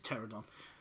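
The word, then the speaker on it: Pteranodon: It's a silent P anyway, it's a pterodon.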